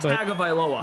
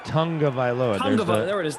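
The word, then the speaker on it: Tagovailoa: not remembered I was actually corrected how to pronounce to his last name it's not tag OFA no it's Tong of vioa there's a missing n that doesn't exist but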